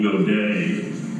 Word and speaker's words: Godie: think she must have tried to use the French pronunciation because I guess I remember that she called herself Lee go day as in Goa and I I don't